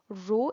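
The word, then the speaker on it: rho: L by a where row is the constant of proportionality here the symbol is pronounced as row and is constant of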